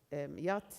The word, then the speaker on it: YAT: We used the Young Internet Addiction Test, which I will be saying as YAT, that's how it's said and used.